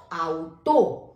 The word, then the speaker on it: Auto: जैसे FRAU Frau, KAUN काउन, AUTO आउटो। ऑटो नहीं बोलेंगे इसे, आउटो, क्योंकि ए और यू आउ आपका शब्द बना है।